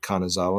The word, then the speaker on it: Kanazawa: Kanazawa.